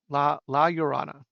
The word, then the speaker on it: La Llorona: Latin American ghosts and tales, but it's Llorona, La Llorona, I think is how you pronounce it.